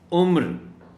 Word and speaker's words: عمر: ہے عین میم رے، اگر تو اس کے یہ ایج کے معنی میں ہے تو اس کا تلفظ ہوگا عمر، لیکن اگر یہ نام ہے تو پھر عمر ہوگا۔ یہ بہت خاص نقطہ